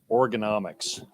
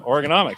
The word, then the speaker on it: Organomics: I don't read Organomics. That's how it's said, though. Right? Organomics.